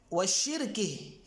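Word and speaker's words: وشِرْكِه: جو لفظ ہے وشرکی، اس کے دو تلفظ ہیں، دو طریقے سے یہ لفظ نکلتا ہے، بکسر الشین المعجمۃ وسکون الراء، ایک کے سین جو ہے اس پہ کسرہ ہو، شی، شاشو نہیں، شی، اور سکون الراء، راء پہ سکون آئے،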